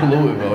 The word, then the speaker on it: Louisville: in Louisville you know what I mean oute I'm not pronouncing it like I've got a dick in my mouth use all your letters okay what are you